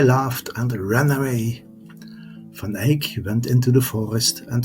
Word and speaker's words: Eyck: name of Van Eyck, which is pronounced Eyck and is Dutch for oak.